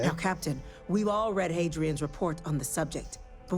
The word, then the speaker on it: Hadrian: Hadrian, that's how you pronounce her name.